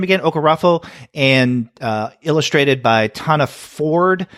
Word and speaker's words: Okorafor: Is that how you pronounce her name again? Okorafor, and illustrated by Tana Ford.